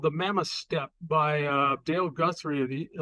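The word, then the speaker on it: steppe: Fairbanks and um you call it the mammoth step now it's spelled s p PE that's a climate zone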